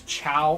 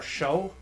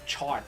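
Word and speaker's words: Chaud: And if I remember correctly, one of the correct pronunciations could be seen as Chow or Show. Speaking of Chow, where did Shad get to? The D is silent.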